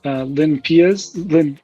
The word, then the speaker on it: LinPEAS: The one that I've been using lately is LinPeas, I've been told is how it's pronounced.